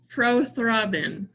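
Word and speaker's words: prothrombin: you say it you say it lorna uh pro-throbbin that sounds beautiful okay all right thank you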